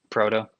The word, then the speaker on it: Proteau: Proto.